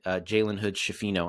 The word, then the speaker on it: Jalen Hood-Schifino: They signed Gabe Vincent, Christian Wood, Taurean Prince, Jackson Hayes, Cam Reddish, and they drafted this kid, Jalen Hood-Schifino, I believe is how you pronounce it, who Lakers fans are very excited about.